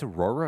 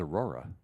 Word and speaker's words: auror: don't add as say aoro it's auror I thought it was Aurora it's aoro exhibit a your honor I my I thought it was a bit and then you look like oh I've been saying it wrong I've been saying it wrong the whole time oh yeah Aurora Roman